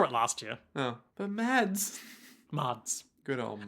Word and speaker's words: Mads: Oh, but Mads. Mads. Good old Mads. Apparently it's more accurately pronounced something like Mars.